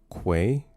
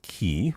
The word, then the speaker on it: quay: It's pronounced quay. Uh, say it with me now. Mhm. With a Q. Uhhuh. One more time. Quay, not key.